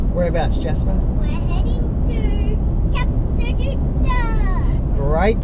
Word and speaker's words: Kata Tjuta: We're heading to Kata Tjuta. Great pronunciation.